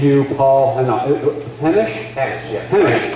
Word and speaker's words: Hannosh: Hannosh. Rhymes with Spanish, not Hanish rhyming with Danish.